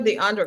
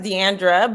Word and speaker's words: Deandra: on here now Deandra do you call yourself DeAndre or you just Deandra you you have some moniker thing going on right well it's actually pronounced Deandra butand Deandra then it's I usually go by